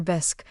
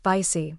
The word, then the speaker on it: bisque: Martha, mid-bite of her lobster bisque, which she pronounced "bicey" with a forced accent, suddenly fixed me with a steely gaze.